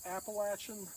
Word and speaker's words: Appalachia: typical track of Upland Appalachian Hardwoods uh and yes we pronounce it Appalachia it's like throwing an Apple at you so this is the